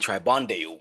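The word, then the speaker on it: Tribondeau: So, the law of Burggoni, Burggoni and Tribond, I think I spelled that wrong on some part of the slide. Law of Burggoni and Tribandeu, that's how you say it.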